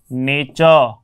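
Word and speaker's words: nature: T vowel, T vowel, T के बाद में यू, इस टाइप से उसमें ट का उच्चारण च हो गया इस रूप में। तो इस बात को हमारे को ध्यान रखना है कि इसको हम पढ़ेंगे नेचर।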